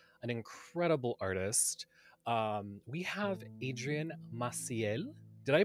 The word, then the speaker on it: Adrian Maciel: a fellow vendor an incredible artist we have Adrian Maciel did I pronounce that correctly yes he pronounced it perfectly